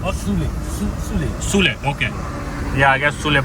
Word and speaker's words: Sule: How do you pronounce it? Shule or...? - Sule.